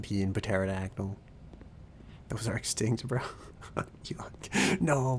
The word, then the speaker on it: pterodactyl: They actually used to pronounce the P in pterodactyl.